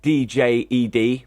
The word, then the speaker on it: Djed: Now, Djed, spelled D-J-E-D, pronounce it how you like, it's Djed to me, is the stablecoin developed by IOG.